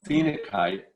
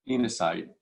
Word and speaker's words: phenakite: The fourth cornerstone, just to get through these quickly, is this one, which is called phenakite or phenacite. You can pronounce it either way.